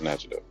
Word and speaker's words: Nacogdoches: I think it's Nacogdoches. Nacogdoches. Nacogdoches, like a duck at the end. Nacogdoches. Yeah, my dad corrected me when I said Nacogdoches.